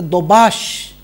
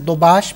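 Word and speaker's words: Daubechies: I believe this is correctly pronounced as Dobash, but I could be wrong. I think we could just probably say Dobashis and be content.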